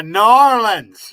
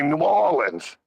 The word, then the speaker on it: New Orleans: a quick lesson Billy we don't say it like that we say New Orleans like you say the word new and then Orleans Orleans New Orleans well the